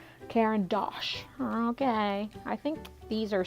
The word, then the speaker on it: Caran d'Ache: Okay, so I just hope that I can pronounce this. Caran d'Ache or Caran d'Ache. It's Caran d'Ache.